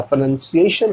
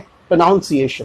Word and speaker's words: pronunciation: ठीक है, बहुत से लोग बोलते हैं प्रोनाउंसिएशन, दैट्स रॉन्ग, वो रॉन्ग है। प्रोनाउंसिएशन कहा जाता है क्योंकि स्पेलिंग में ही PRONUN लगाया जाता है, NOUNCE नहीं, क्योंकि यहाँ पे ये वर्ब